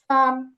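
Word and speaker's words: 三: আর তিন যেটা আছে তিনেরটা হচ্ছে চীনা ভাষায় হবে সান, ফার্স্ট টোনে সান, সান।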